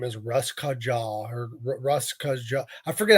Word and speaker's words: Russkaja: Their name is Russ Kaja or Russ Kaja. I forget how to pronunciate it, but they are a polka metal punk band.